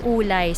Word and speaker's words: Wulai: So by the way ang bigkas talaga dito is ulay sa silent W.